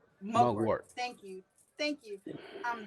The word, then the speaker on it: mugwort: for you is am i saying it correctly mugger mugart mugwort thank you thank you um that herb is